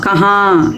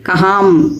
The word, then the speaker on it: कहाँ: உச்சரிச்சுட்டு இருக்கிறோம் ஹாங் மாங்கு அல்லது ஹாம் மாம் அப்படின்னு உச்சரிக்கிறோம் ஹா கஹா யஹா வஹா அப்படின்னு சொல்லாம கஹாம் யஹாம் வஹாம் அல்லது கஹாங் யஹாங் வஹாங் அப்படி எல்லாம்